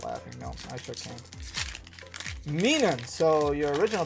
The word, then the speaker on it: Minun: Minun. So, your original pronunciation was close.